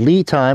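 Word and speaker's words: LiTime: It's called Lithium, but it's spelled L-I-T-I-M-E.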